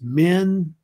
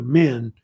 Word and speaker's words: Min: And Herodotus has his own version of the name, which is just Men, but it's spelled M-I-N usually. So Men. So it's either Men or Menes was the Greek name.